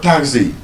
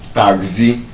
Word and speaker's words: taxi: So, for example, that word, taxi, an average Nigerian would normally have pronounced it as taxi. taxi And that way, the problem is that the stress is on the second syllable, which it not be.